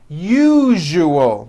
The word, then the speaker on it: usual: three syllables u o that second syllable the one with the underline needs to be voiced put your hand on your throat and feel for the vibration in the second syllable you now put it